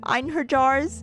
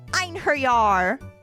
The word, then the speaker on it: Einherjar: I bet the J is pronounced like a Y here. Yeah, you're probably right. Einherjar.